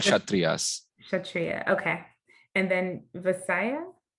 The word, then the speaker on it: Kshatriya: Brahmin, uh, Kashatria. Yeah, it's all starts with K, but it's Kshatriyas. Okay, thank They you. leave the K out of that.